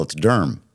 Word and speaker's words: Durham: First, that Now you finally got it right. It's one syllable. It's Durham.